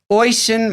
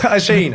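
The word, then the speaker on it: Oisín: And Oisin Mullen, God, I think I butchered that. Asheen. Is it Asheen? Asheen, mate. God. I know my Irish names.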